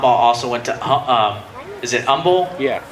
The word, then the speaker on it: Humble: went to is it Humble? Yeah, Humble. I always get confused. It's like, do you pronounce the H or The H not? is silent.